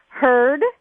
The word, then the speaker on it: heard: Herd, H-E-A-R-D. It looks like beard, but it sounds like bird.